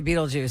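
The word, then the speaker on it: Betelgeuse: beet ju beet juice it's not spelled the same it's spelled b e t e l g e u s e it's um balge yeah that's that's how you actually say Beetle Juice it's balge they should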